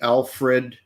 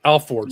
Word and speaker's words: Alford: you explain what the Alfred Alfred plea it's alord Alford so Al f o r d versus North Carolina and